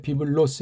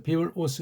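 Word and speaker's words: βίβλος: 오스 근데 비블로스 해서 이게 이제 발음도 주 주의해야 되죠 그렇죠 비블 오스 비블로스 비블 오스 그게 좀 낫긴 하죠 근데 비블로스 하게 되면 이게 람다가 지나치게 오해될 수 있고음이 기름치 너무나 아주 세게 느껴주는 건데 비블로스 비블로스 비블 오스 이게 발음이 돼요 근데 비블 로스는 조금 문제가 있는 발음이다 서양애들이 그런 식으로 발음하니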